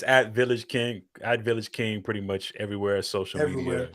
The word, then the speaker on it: Village KNG: And it's VillagKNG, Village King, VillagKNG on all.